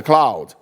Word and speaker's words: cloud: students English pronunciation right three words Cloud the sky crowd a group of people and cow you know animals because they cannot pronounce it properly and kind of uh